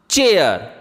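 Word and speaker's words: chair: ठीक इसी तरह सी एच ए आई आर चेयर यानी बच्चों इन शब्दों में ए आई का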